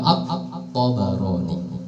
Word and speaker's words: At-Tabarani: ro alif nun ya, jangan dibaca Tobroni. Kalau Tobroni mah orang Jawa, tapi banyak yang membacanya Tobroni. Yang betul adalah Imam At-Tabarani.